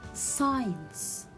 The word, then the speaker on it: science: to repeat after me my dear students abscess science crescent descend fascinate ascent conscious disciple scissors ascend